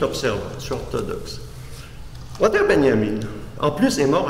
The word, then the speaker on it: Benjamin: au nom paradoxalement d'orateur benjamin benyamine comme vous devez le prononcer si vous ne connaissez